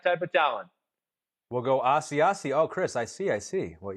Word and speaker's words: Asiasi: Asiasi.